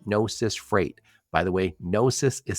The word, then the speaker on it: Gnosis: technical officer at nois Freight by the way nosis is spelled GN o s i s nosis Freight